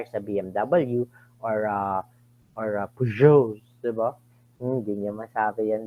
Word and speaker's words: Peugeot: Nilagay pa nga ng Peugeot yung kanilang pronunciation dun sa kanilang building para pagpasok niyo hindi kayo tatanga-tanga at sinasabi, ano yung Pajos, Pajos, ganyan.